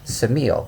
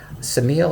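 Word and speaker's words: Ksamil: adjoins it which is called Samuel which is actually spelled with a K Samuel is a huge Retreat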